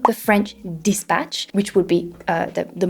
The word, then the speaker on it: The French Dispatch: ination instead of saying the French dispatch which would be uh the most correct way to say this he said the French dispatch French dispatch uh instead of saying Interstellar he said Interstellar Interstellar obviously this is not